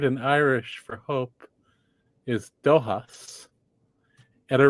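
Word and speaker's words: dóchas: Irish for Hope is doas and a rhymes with this other word in Irish duas which means tradition but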